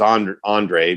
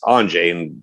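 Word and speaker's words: Andrej: Everybody says Andre, but it's Anjay, and Gord says Anjay.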